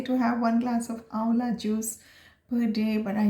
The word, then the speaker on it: amla: here it's spelt amla but we call it's pronounced as aola so that's the main ingredient and i actually